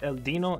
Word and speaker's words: Dino: I know it's pronounced El Dino. It's just my English side wants to say Dino because I'm inclined to say dinosaur, but whatever, just skipping that for now.